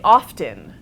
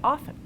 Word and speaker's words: often: pronunciation in what linguist would call a spelling pronunciation and I think often speakers when they're trying to be particularly formal will say often but more colloquially might say often we see a similar reinsertion in words like